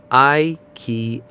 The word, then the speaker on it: IKEA: Wrap it up with a soft uh which sounds like the a at the end of sofa. Let's put it together smoothly. I key.